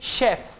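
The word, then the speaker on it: chef: यानी इंग्लिश की सी एच की 2 आवाजें हैं, लेकिन वो वर्ड्स जो फ्रेंच लैंग्वेज से इंग्लिश में इंपोर्ट हुए हैं वहां पे सी एच श की आवाज देगा। मिसाल के तौर पे शेफ, शेफ, होटल में जो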